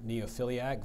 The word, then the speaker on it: neophiliac: Your sentence is, a true neophiliac, Vince visits trade shows at every opportunity.